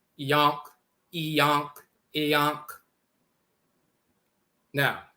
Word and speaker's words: Ankh: derived from Ankh, and the Ankh is pronounced Iyonk, Iyonk, like in the Coptic dialect. Instead of Ankh, it's Iyonk, Yonk.